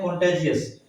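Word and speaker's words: contagious: कॉन्टेगियस इसको कहते हैं कॉन्टेजियस, इसको कहेंगे कॉन्टेजियस, और ये होता है कॉन्टिगुअस, ठीक है।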